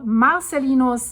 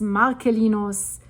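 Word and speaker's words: Marcellinus: My Latin teacher, which I appreciate a lot, um the C is a K. That's how I learned it. So, Marcelinos, Marcelinos, whatever you want to hear.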